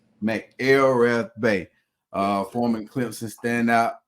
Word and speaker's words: McElrathbey: here day Ray Mel pronounce that for me so I don't mess it up m l rth Bay Mel rth Bay uh foring Clipson stand